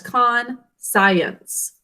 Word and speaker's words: conscience: So I want you to think of this as conscience. Would you sound it out with me? Conscience. 3 syllables.